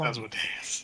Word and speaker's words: Asmodeus: Pronounced Asmodeus. Yeah, Asmodeus. Anywho, Asmodeus.